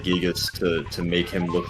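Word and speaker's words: Giygas: Omni and Gigas are both two syllables.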